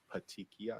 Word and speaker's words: petechiae: But pronounce it slowly and loudly for everybody. Petechiae.